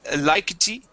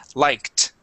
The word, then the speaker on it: liked: You had said likety. Okay, and added an E at the end. Okay, try focusing on ending with only a T sound. The word is liked.